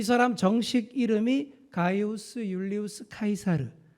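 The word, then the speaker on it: Caesar: 이 사람 정식 이름이 가이우스 율리우스 카이사르, 이게 라틴어인데요. 영어식 발음으로는 줄리어스 시저라고 하는 인물입니다. 다들 들어보셨을 거예요. 저도 중고등학교 시절 때 케사르라고 배웠습니다.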